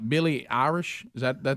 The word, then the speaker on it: Billie Eilish: Because it's all like Billie Eilish. Is that the name? How you say it? Eyelash. Billie Eilish.